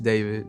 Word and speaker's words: D4vd: Hello, my name is David. Pronounced David, not D4vd.